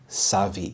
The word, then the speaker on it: savvy: word to say and the stress is on the first syllable Savi the this means knowledgeable